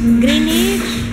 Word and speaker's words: Greenwich: Greenwich. Greenich Greenich Oo nga naman kasi spelling may W Green Greenich nga Oo pero Silent W ano tawag dito lasag